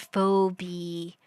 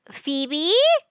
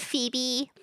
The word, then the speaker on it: Phoebe: Well, to answer your question, Little Red Riding Hood was a woman named Fobi. Phoebe. Fobibbe, isn't it? Phoebe. The O is silent because of the vowels.